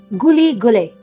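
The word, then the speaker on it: güle güle: If you are the host, you say Guli Gule. Guli gule. Yep. See? Gu- Guli How Gule. is my pronunciation?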